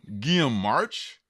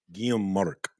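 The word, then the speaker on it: Guillem March: a Spanish channel, and I think it's Guillaume Marc. Ooh, that would make so much sense that the H is silent and the R is silent.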